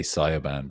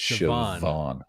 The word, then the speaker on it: Siobhan: But the B, most people would say Siobhan, but you were very close there. You said Siobhan. Yeah. But it's Siobhan. Siobhan with a V. Wow. The BH should be like a V sound.